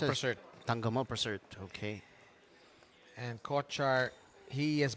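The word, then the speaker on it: Tangkamolprasert: How do you Tangkamol pronounce it? Prasert. Tangamo Prasert.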